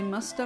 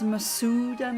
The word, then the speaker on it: Masuda: This time I'll be using the Musta method. I know everyone says Masuda method, but the Sue is not pronounced like that in Japanese.